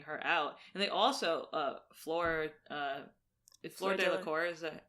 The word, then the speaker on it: Fleur Delacour: And they also Fleur Delacour, is that how you say it?